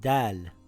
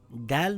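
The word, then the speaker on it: دال: This letter is called Dal, and it is a light letter. Dal makes a similar sound in English to the letter D in the word dad or the word dark.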